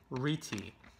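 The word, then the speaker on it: rete: bounce this one and pretty sure it's pronounced Ricci the Ricci so this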